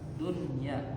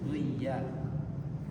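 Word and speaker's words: دنيا: Dunya tidak dibaca duya.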